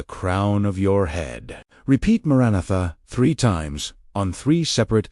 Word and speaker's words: Maranatha: Pronounce it exactly like this. Mara natha. Four distinct syllables.